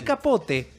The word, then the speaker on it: Capote: es cubano el apellido, decí Capote. O sea que tanto peleas por pronunciar bien todos los apellidos, pronunciame Sí, Capote como un también cubano.